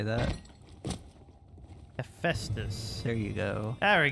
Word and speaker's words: Hephaestus: How did you pronounce that? Hephaestus. You don't know how to say that. Hephaestus.